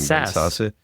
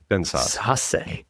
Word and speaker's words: Sasse: like this observation from Ben, how do you pronounce his last name? Sasse. Ben Sasse.